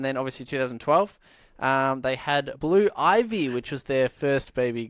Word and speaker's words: Blue Ivy: I said Blue Icy, but it's actually Blue Ivy.